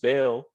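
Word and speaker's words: Baal: people are still serving back or just bail both pronunciations uh work but they're they're still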